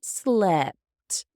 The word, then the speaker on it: slept: sleep long e and in the past I slept with a short e sound sleep slept sleep slept